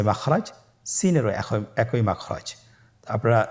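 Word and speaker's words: سين: সিনের মাখরাজ সিন কোন জায়গা থেকে উচ্চারিত হয় ছবিতে দেখতে পাচ্ছেন জিহ্বার আগা সামনের নিচের দুই দাঁতের পেট ও আগার সঙ্গে লাগিয়ে উচ্চারিত হয় জয়ের মতই জয়ের যে মাখরাজ সিনেরও একই মাখরাজ আপনারা সিন হরফটি আবার উচ্চারণ করুন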